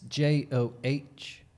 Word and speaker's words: Joh: at the bottom but it's Joh and that's Jo for those of you that are confused it's like the word Oh with a J in